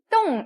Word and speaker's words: 动: 간 뒤에 D가 나왔죠? 뜨트너 기억나시죠? 뜨 발음이에요. ONG 들어왔어요. 옹 발음이죠? 어떻게 읽을까요? 똥 읽으시면 되겠네요.